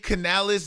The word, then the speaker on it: Canales: Dave Canales, that's how you pronounce his name.